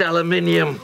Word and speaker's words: aluminium: It's pronounced aluminium.